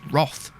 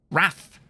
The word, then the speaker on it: wrath: they sometimes pronounce it roth roth roth if it was roth it would have an o it's an a raph wrath it just annoys me